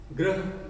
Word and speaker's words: ग्रह: ग्रह, गृह, उच्चारण में भी अंतर है, आप ध्यान दीजिए, लगभग समान है, समान नहीं है, लगभग समान। ग्रह, गृह, ग्रह, गृह, तो